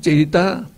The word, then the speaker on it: citta: Citta, E is pronounced A, citta.